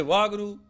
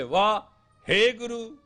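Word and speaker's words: Waheguru: If you say Vah Guru, you blew it. If you say Vah, Hey Guru, you made it.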